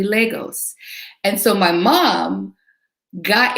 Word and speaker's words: Lagos: an apology for um mispronouncing legos last week i kept calling it lagos it's actually legos and so my mom